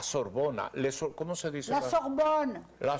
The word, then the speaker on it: Sorbonne: La Sorbonne. La Sorbonne.